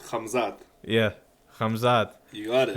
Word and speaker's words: Khamzat: Khamzat.